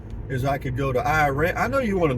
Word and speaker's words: Iraan: They pronounce it Iran, but it's spelled Iraan, and it's pronounced there Iran for some reason.